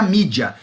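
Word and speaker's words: media: Então em inglês escreve-se média, mas se pronuncia mídia.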